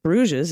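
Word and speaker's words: Brugge: get rid of it in dutch the g's are very guttural pronounced at the back of the throat the ch and the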